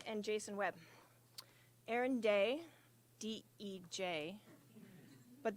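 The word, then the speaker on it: Dej: to start with Aaron day and Jason Webb Aaron day d-e-j but the J is silent so it's pronounced day and when she used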